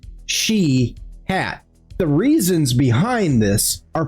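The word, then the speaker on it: Shiath: The name Sheihot is spelled sh H I A T H but pronounced She hat.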